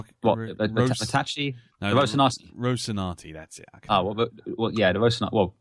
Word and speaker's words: Rocinante: Yeah, the Ricade, isn't it? The Ricade? I can't remember. I can never pronounce it. The Tachi? No, the Rocinante. Rocinante, that's it.